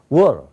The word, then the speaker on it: water: 그러니까 워터 그러면 워에 힘이 있거든요. 스트레스가 워에 있거든요. 그러면 터에 없거든요. 그래서 어떻게 됩니까? water. 그러면 그게 영어예요.